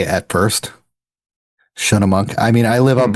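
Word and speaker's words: Schunemunk: So Shunnamunk. That's kind of what I was going to say at first. Shunnamunk.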